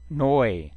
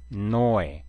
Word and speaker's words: neu: Weber, 그 다음에 에우는 로 아웅라우트 우는 오이로 발음합니다. 오이, 그래서 heute, heute, neu, neu, der Freund, der Freund, 그 다음에 das Fräulein, das Fräulein, das Fräulein, 자, 오늘은 발음에 대해서 공부를 했습니다.